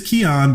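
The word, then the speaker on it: Kian: with a K yeah it's my name with a K that was like my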